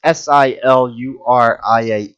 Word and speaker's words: Silurian: Am I pronouncing this correctly? It's Silurian.